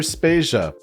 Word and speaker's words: Spacia: Vader and I'm Spacia we're brought to you by anonymous dinosaur and rhymes with Asia it's time to appreciate